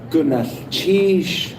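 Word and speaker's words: gunalchéesh: It's pronounced gunath chish. Will y'all try that?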